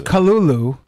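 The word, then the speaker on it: Cthulhu: love you cthulu cthulu it's cthulu everybody who says it's Kulu oh who are the I I don't like that kind of that's how it was intended was actually it was intended to be unpronouncable that's the kind of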